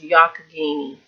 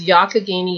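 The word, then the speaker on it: Youghiogheny: in Western Pennsylvania and tells me this is pronounced yakagini so this is yakagini Yarns this yarn was a special fundraiser yarn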